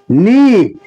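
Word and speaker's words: knee: পায়ের তলা সোল হাটু নি কে এন ডবই কে এর উচ্চারণ হবে না কুল কুল আমরা কুলে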